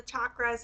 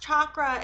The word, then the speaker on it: chakra: And she said she pronounced chakra in an English way, in a Western English way. I have been recently taught that you're supposed to say it like chakra. And I keep saying it chakra because I'm ignorant and